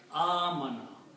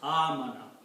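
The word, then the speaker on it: آمن: There are two alifs in this word, so we pronounce as amana. Stretch, amana.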